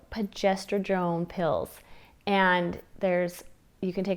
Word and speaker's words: progesterone: But I did have a really good friend tell me about, and I always say it wrong, progesterone. progesterone. It's not progesterone, it's progesterone, whatever, progesterone pills.